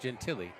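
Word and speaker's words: Gentile: He was looking for Marco Gentiel from Wikliff that's pronounced Gentilly.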